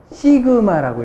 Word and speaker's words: 시그마: 이걸 갖다가 뭐라고 읽냐면 시그마라고 읽습니다.